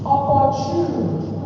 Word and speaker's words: opportune: Opportune. We don't only misuse it, we mispronounce it. Opportune does not exist in the dictionary. Don't add D to it.